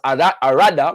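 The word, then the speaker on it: Allada: The Ewe-speaking Fon of Abome and Alada, sometimes pronounced Arada with the R, of Porto Novo, the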